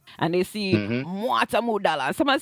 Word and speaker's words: Mwata Modala: And it's pronounced MWATA MODALA.